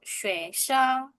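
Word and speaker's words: 学生: Swesong. Swesong. Nada dua baru satu. Swesong.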